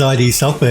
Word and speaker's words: id Software: It's as bad as ID software. Remember how people used to say id software, which I think is how they want you to pronounce it.